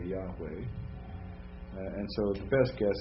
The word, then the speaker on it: Yahweh: pronounced and again the the V now we're pronouncing it in the ancient Hebrew kind of way with a W right so that's why we say Yahweh and so the best